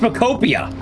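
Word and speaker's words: Pokopia: How do you pronounce it? Whatever you pronounce it. Pop. It's pronounced Pakopia.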